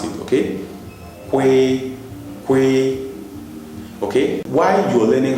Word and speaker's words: kw: we at the same time so you go qu qu qu that's how to pronounce it okay qu qu okay while you learning how to pronounce